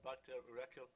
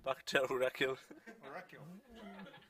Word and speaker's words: Bakhtiar Urakil: So Bakhtiar Urakil. That's how you pronounce it. One more? Bakhtiar Urakil.